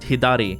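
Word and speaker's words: 左: So the the character on the right that means left in Japanese would be pronounced hidari.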